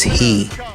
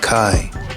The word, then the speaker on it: chi: to america it's come is pronounced as he in greek but kai in english in any case he